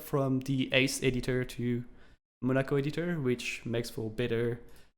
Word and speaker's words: Monaco: And how do you pronounce that? Is it Monaco? Yeah. Editor? Yep. Monaco?